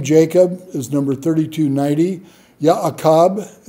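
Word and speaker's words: יעקב: Ya'akab is how you'd pronounce it in Hebrew.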